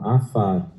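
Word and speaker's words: עפר: Lembrando que esse símbolo aqui, o Ain, não é pronunciado. Então, você tem o A, esse aqui sem o pontinho é som de F, daí você tem o A novamente, Afar, e o som de R. Então, Afar.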